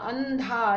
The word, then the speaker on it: अंधा: ऐसे ही अंधा, न, अंधा, ये देखो ध का पंचम वर्ण है न, तो इसका इस बिंदी का उच्चारण होगा न की तरह, अंधा।